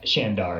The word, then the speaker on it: Shandar: Shand oh it's yeah shandar it's an a not an E shandar Yeah W cute